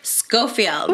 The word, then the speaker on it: Schofield: Brook Brook and here she is today Brook scoffield did I say it right yes you did